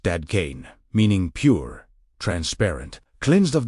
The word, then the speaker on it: Dadkein: This is why the message of Dadkein, pronounced Dadkein, meaning pure, transparent, cleansed of distortion, remains just as revolutionary today as it was on the hillside overlooking the Sea of Galilee.